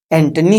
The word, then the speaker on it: antennae: एक ए लगा के जब ए लगा देते हैं तो उसका उच्चारण एंटनी हो जाता है। एंटीना नहीं एंटनी हो जाता है। जैसे कि हम यहां देख सकते हैं ए लगाए हैं तो इसका उच्चारण क्या होगा? एंटनी होगा।